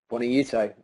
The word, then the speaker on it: Buonaiuto: Buonaiuto? Buonaiuto.